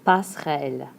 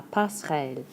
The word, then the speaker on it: passerelle: La passerelle. ...Don't get to do much with that (er) in there. So don't worry about it too much! La passerelle.